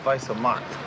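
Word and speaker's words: Weiße Macht: studies German in school it said wise mark it means white power pronounced Vice of mar yeah whatever listen um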